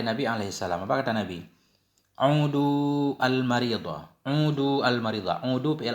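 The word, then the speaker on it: عُودُوا: Udu al-maridah. Jenguk olehmu akan orang sakit. Bidhammil aini wad dali bainahuma. Dengan dhammah in dan dhammah dal antara keduanya.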